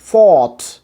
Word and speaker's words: thought: আবার থিঙ্কের past form যেটা THOUGHT, ফট। প্রথমত একটা লং সাউন্ড আছে এখানে, সায়ের সাথে লং সাউন্ডটা করতে হবে। এটা থট না, উচ্চারণটা হচ্ছে গিয়া ফট, ফট।